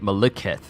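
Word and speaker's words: Maliketh: So it still has the K sound, but they're pronouncing it Malekith. Even though the only thing changing is the K to a Q.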